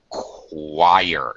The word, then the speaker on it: choir: It's a like Okay, another All right, ch is very tricky. It can be a stomach, a k sound. It can be a ch sound like chocolate. Uh here we see yet another uh occasionally it's an s sound. Uh an sh sound like Chicago. Um, here we see another a fourth sound qu like a queen.